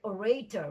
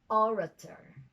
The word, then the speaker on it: orator: sounds but the stress we always hear orator when it should be orator but of course it's